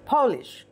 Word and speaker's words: Polish: এই শব্দটা capital letter দিয়ে শুরু হয়েছে, উচ্চারণ হবে Polish, Polish, আমরা যেমন ইন্ডিয়ান ঠিক তেমনই যারা পোল্যান্ডে থাকে তাদেরকে বলা হয়।